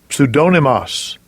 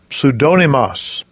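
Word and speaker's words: ψευδώνυμος: word of the week number four and it's pronounced strong's g 5581 pseudonymous pseudonymous pseudonymous again the greek word of the week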